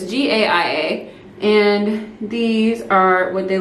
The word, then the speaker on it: Gaia: I still can't pronounce it, but it's Gaia.